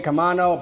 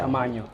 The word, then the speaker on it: Camaño: So just say Camano, but since we're in the Dominican Republic, they use the ñ, a little line over the end, so it's Camaño.